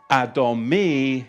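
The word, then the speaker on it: אדמי: But I just don't want to move on because when you look at the Hebrew, the Hebrew for ruddy is adomi. Adomi. And it's spelled olive dallet mem noun yod.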